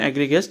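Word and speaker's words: egregious: तो एग्रीगियस, remember the pronunciation एग्रीगियस।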